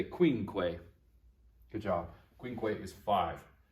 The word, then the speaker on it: quinque: for four is quattor number five is quincue say queen quay good job quinque is